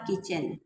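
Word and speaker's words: kitchen: आउट ऑफ द किचन यहां T silent है वि द plate a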